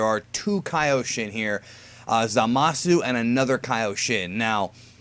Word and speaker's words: Zamasu: Lord beerus this is zamasu guy anyways I noticed that the way that Goku pronounces it is zamasu which means that when it gets dubbed his name may change to zamas just letting you guys